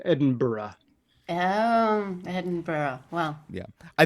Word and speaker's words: Edinburgh: like sorry double the the city there is pronounced Edinburgh oh Edinburgh wellow yeah I think we may